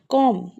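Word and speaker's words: comb: कॉम कॉम में B silent है।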